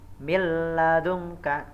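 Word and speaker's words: من لدنك: Contohnya milladunka, ya, nun mati ketemu lam. Milladunka, jadi nunnya dianggap tidak ada alias dileburkan ke huruf lamnya.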